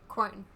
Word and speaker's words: Quern: Quern.